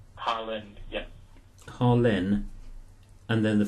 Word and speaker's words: Harlyn: Yep, my first name is Harlyn, it's spelled Harlyn, and my surname is. Hang on. Harlem. Harlyn, yep.